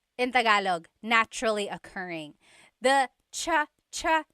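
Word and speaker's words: tsaa: Polyglot said it's like the word cha. Cha in Tagalog is tea. like the tea that you drink. And it's spelled ts aa aa. Cha. Cha. That's such a Tagalog spelling. I love it. There's the ts sound and then the double vowel uh pronunciation.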